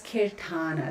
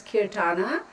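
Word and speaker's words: Keertana: can wink wink seeking serenity my name is kirthana let me spell it for you okay okay e e r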